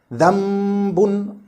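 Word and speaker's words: ذنب: First one, changing the noon sakin or tanween into a complete meme in pronunciation, but not in writing, so that no trace of the sound of noon sakin is left, like dhambun, dhambun, no trace of noon.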